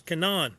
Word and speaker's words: Canaan: It was Canaan. That That's the correct pronunciation.